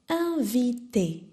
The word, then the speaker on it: inviter: So instead of saying invite, you say in, I-N, V-I, T, E-R. Remember, you don't pronounce the R.